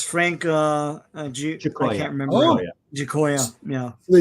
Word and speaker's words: Giacoia: by the great Jack Kirby, inked by Frank how do you pronounce this, D-Bud? Giacoia.